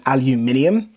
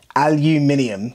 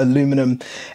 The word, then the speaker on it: aluminium: Aluminium, we pronounce all of the letters. These are made from aluminium, before you jump up in the comments there, or aluminum.